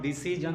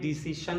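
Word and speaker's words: decision: जैसा कि मैंने आपको बताया कि SION से शन होता है, तो इसको हम लोग डिसीजन नहीं डिसीशन बोलेंगे।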